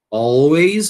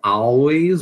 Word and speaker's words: always: Always. Ou então always você escolhe a sua pronúncia. Só importante que você sempre diga o L e o Z, né?